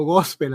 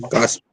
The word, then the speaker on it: gospel: Gospel. Es una O que suena como un poquito como A.